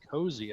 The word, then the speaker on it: COSI: And so the first time I saw COSI, I was like, oh, it's COSI. And then people started saying cozy. And I was like, why are you saying it that way?